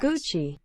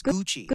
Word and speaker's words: Gucci: how to pronounce Gucci the two C's make it a CH guys Gucci it's Gucci so I'm going to